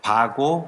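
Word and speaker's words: WAGO: 이렇게 얘기를 했다고 하는데 사실 바오가 정확한 표현입니다 우리가 폭스 왜건이 안 그러잖아요 폭스 바겐이랑 그러지 그 wg 움라우트 표기입니다 바거 커넥터 생김새는 이렇게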